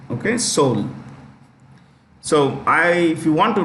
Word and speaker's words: Seoul: Okay, it's pronounced with an E that is silent. Okay, Seoul.